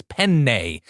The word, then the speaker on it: penne: explain to them, like, when there's a double consonant in Italian, it's a different word than a single consonant. And you really have to pronounce it like it's the same. So like, it's not penne, it's penne. You just say the two N's as if they're two separate letters.